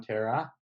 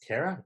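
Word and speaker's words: Karah: you for coming on tara it's kara tara tara like it's spelled like sarah too i got an h at the end of my name nice very unique coming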